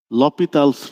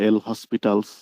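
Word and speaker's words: L'Hôpital: লপিতালস rules, অনেকেই বলে এল হসপিটালস rules, এটাকে এক্স্যাক্টলি উচ্চারণ লপিতালস রুলস ইউজ করব।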